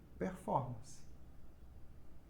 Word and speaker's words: performance: Mas na fonética, ela mantém a sonoridade proveniente da língua estrangeira.